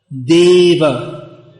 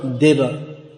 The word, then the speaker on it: deva: it's always pronounced law so if you see for instance deva deva that a in deva is always pronounced there's no diva there's no there's no short form of that krishna in